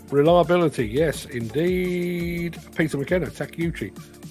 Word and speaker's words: Takeuchi: yes indeed Peter McKenna takiuchi pronounce how how it's spelled has anyone ever seen